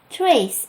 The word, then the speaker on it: Thrace: Talking about Ether, I wonder, do they have an idea that there are lands in the world called trachea, trace in English pronunciation?